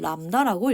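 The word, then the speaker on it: λ: 그러면 기억할 부분인 속도, 진동수, 파장 주기를 보도록 하겠습니다.이 파장은 이렇게 시옷자 모양으로 쓰는데이 시호자는 람다라고 읽게 됩니다.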